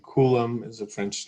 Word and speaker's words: Coulomb: french um right see the b is silent there are a couple of french names in here so ampere for example is a french name coulomb is a french name